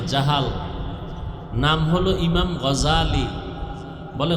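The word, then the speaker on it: الغزالي: নাম হলো ইমাম গাজালী বলে গাজ্জালি না গাজালি বিশুদ্ধ উচ্চারণ গাজ্জালি না আর আল্লাহ যদি কবুল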